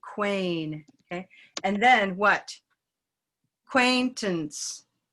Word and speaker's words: acquaintance: okay and then what acquaintance and that a doesn't get much time it's not quaint ants acquaintance it's almost not even a it's a schwa acquaintance acquaintance then what